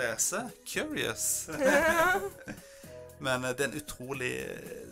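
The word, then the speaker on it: Qyurrius: Og sangen heter, jeg tror det mener at du skal uttale som Curious. Ja. Men det skrives Curious. Men det skrives som Q-Y-U-R-R-I-U-S. Curious.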